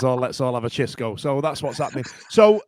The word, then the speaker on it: Xisco: to pronounce it so because I thought it was shisco or Cisco but because he's from in uh because he's from the Balearic Islands it gets pronounced the lyrics it gets pronounced so it's chisco Munoz but it's disco in